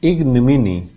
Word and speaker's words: ignominy: 26th word is ignominy. Ignominy. There are 4 syllables. First syllable, second syllable, third and fourth.